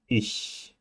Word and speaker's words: ich: CH can be ich, or it is Bach or Buch.